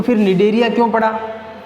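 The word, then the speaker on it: Cnidaria: इस संघ का एक नाम और भी है, निडेरिया। नाइडेरिया भी लिखा मिलेगा आपको कई जगह, लेकिन निडेरिया है। इसमें जो सी है ये साइलेंट है, याद रखना।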